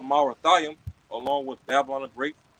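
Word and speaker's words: Merathaim: All right, and when you go into Marathiam in the Hebrew in the blue letter, okay, it's literally pronounced just as that, Marathiam, and it means what?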